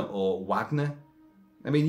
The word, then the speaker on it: Wagner: But Wagner has said, like, did he call him Wagner or Wagner? I mean, usually from Germany and going eastwards into Europe and, well, Eastern Europe, you drop the W and it becomes a V in pronunciation.